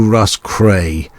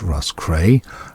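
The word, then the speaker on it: Roscrea: would get it to Russ cray R oos c r e a is pronounced Russ cray and you'd come off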